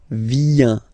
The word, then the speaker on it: viens: Remember this I, viens, and then this nasal, final S not pronounced, je viens, tu viens.